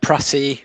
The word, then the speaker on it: Pratty: Pratty rhymes with Batty.